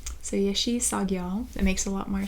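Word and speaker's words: Yeshe Tsogyal: right, so they do tell me how to pronounce it. Yeshi Sagyal. So Yeshi Sagyal.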